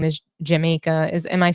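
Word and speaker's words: Jamayka: is it Jamaica rights but her name is spelled j a m a y k a like Jamaica like that not like the island but um well anyway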